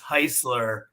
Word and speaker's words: Heuisler: I always tell people it's Heisler. It rhymes with the car company Chrysler.